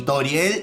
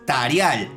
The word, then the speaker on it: Tarial: Frisk en este universo es Frask y Toriel en este universo es Tarial.